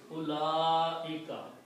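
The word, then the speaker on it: أولئك: So, ulaika, one thing you should notice that this little circle on waw, we should not read the waw. That means this waw is silent. So it's ulaika.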